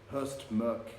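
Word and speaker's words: Høstmørke: it's my understanding that the pronunciation of that particular character, it's like the umlaut above the O in German, so So Hurst Merk, but Norwegian viewers and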